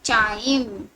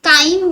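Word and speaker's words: chyme: तो इस semi digested food को हम क्या बोलेंगे यहाँ पे, चाइम, या फिर काइम भी बच्चे इसको प्रोनाउंस करते हैं।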